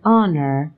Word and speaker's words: honor: an umbrella an ox for words like honor honest and hour where the edge is silent we use an for